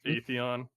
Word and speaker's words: Atheon: But I'm going with Atheon. Yep, that's correct.